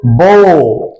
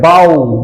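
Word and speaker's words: bow: বিওডব্লিউ বো, বো, বো উচ্চারণ হলে তখন এটি নাউন হবে, তার অর্থ হবে ধনুক। তাহলে বো, বো উচ্চারণ হলে অর্থ হবে ধনুক। একটা এক্সাম্পল দিয়ে আমরা বুঝতে পারি, হি ইউজড এ বো টু শুট অ্যান অ্যারো। আবার বিওডব্লিউ উচ্চারণ হবে বাউ, বাউ, বাউ, বাউ উচ্চারণ হলে এটি ভার্ব হবে, তখন এর অর্থ হবে মাথা, মাথা নত করা।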